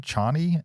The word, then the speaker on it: Chani: The official IMDb plot synopsis for Dune: Part 2 is Paul Atreides unites with his Connie? Is that how you say her name? Chani and the Fremen while seeking revenge against the conspirators who destroyed his family.